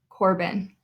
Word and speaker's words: Corbin: And you'll notice with all of them, we say the first syllable just a little bit louder. We say Keegan, not Keegan. Ava, not Ava. Corbin, we pronounce that a little bit stronger.